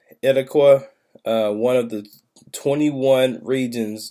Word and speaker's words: Itacua: I pronounce this right, Etaqua, one of the 21 regions of the massive open world. So they got 21 regions on there. One of them is Etaqua, or Itaqua. It's Itacua.